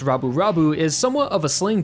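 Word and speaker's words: ラブ: But in Japanese, the words love put together that would be pronounced rabu is somewhat of a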